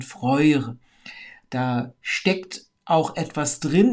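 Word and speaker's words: Freyr: eher von Vorjahr sprechen so wie ihr Bruder auch nicht freie heißt sondern freue da steckt auch etwas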